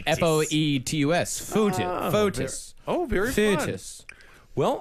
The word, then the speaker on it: Foetus: Now, this one's spelled with an O. Yes. Yeah. Foetus. F-O-E-T-U-S.